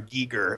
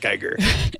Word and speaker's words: Giger: Giger. Apparently it's Giger, not Geiger.